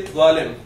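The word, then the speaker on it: ظالم: Okay, if this is the last word of a sentence, or if it is the only word, we don't pronounce the i'rab. So we say zalim.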